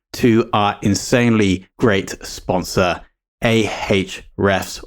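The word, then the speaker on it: Ahrefs: our insanely great sponsor ah refs or HRS as the name should be pronounced now HRS are a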